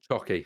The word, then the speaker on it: Csoki: We call him Csoki. Chocky.